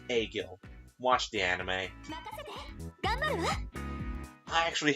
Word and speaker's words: Agil: They neglect Klein and Egil. They really neglect those two. And as a proper thing, I will tell you now, it's actually pronounced Agil.